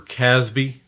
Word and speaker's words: CASB: intrusion prevention a cloud access security broker or casby for short as well as data loss prevention